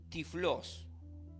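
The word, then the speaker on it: τυφλός: evangelios proviene del griego Eh tiflos así así se lo puede pronunciar y del hebreo iger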